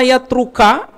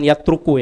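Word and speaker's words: يَتْرُكَ: majelis ilmu ini Hatta yatruka kalau ada Hatta masuk ke fi'il mudhor Bacanya jangan yatruku ya yatruka Hatta yatruka hingga meninggalkan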